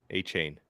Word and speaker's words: Achane: of Texas A M it's easier than you think Devon a chain Devon AJ a chain H A lot of people are like is it akane achane a chain easy enough right okay